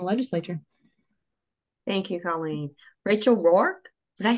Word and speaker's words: Rourke: Rachel Rourke, did I say it right? Yeah, Rachel Rourke.